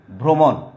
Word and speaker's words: ভ্রমণ: তো প্রথম, তাহলে প্রথম যদি রফলা থাকে তাহলে কি হবে, আদ্য অ এর উচ্চারণ উকারান্ত বা উকারের মতো হবে।